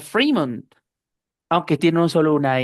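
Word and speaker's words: Fremont: Esto es una excepción para la i larga porque se pronuncia Freemond, aunque tiene un solo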